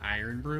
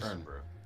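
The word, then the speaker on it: Irn-Bru: soda we had in the import section called Iron Brew. Was it Earn? Yeah. Yeah. Or Earn Brew. I don't know how it's pronounced. It's Earn Brew.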